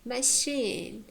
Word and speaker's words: machine: For example, machine, machine. The first syllable is weak. It has short vowel, and the next one is strong. It has long vowel. Yeah, machine. Therefore, it's stressed.